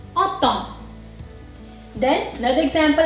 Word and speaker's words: automne: Like we say automne.